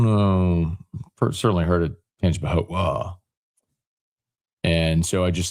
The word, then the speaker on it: Tangipahoa: If you're new and you're wondering why, cuz I was saying Tangipahoa, and there was this debate not debate, but someone from the Hammond area said they don't pronounce the A.